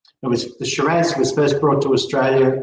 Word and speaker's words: Shiraz: But Shiraz, the Syrah grape was brought to Australia and it was called Shiraz, Shiraz. But it is 100% exactly the same grape as Syrah.